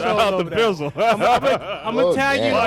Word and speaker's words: Bizzle: You say his name was Bizzo? Bizzle.